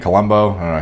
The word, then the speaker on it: Columbu: necessarily like a colombo columbu kind of physique colombo he pronounced his name but um you know